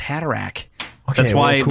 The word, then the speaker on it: Haderach: I don't think in the movie it's pronounced Haderach.